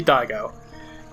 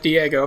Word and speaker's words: Daigo: or daigo it's yeah it would be daigo as a kid i pronounced it diego because i knew nothing about japanese but this is definitely